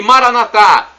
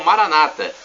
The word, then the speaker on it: Maranatá: E Maranatá, do aramaico, dialeto de Jesus, significa vinde, Senhor Jesus. Os evangélicos falam Maranata, com a tônica na penúltima sílaba.